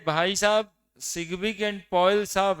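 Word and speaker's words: Sidgwick: Balance cell electron pair repulsion theory given by सिग्बिक, D silent रखना, एंड पॉयल।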